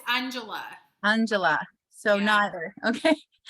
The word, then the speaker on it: Anjala: Is it Angela or Anjala? I want to be corrected. Oh, it's Anjala.